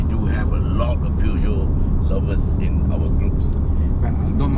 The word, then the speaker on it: Peugeot: Okay, I just learned how to pronounce Peugeot. Okay, Peugeot.